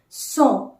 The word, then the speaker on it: cent: word you can take having the same sound or the pronunciation but the spelling differs so c-e-n-t song song refers to number 100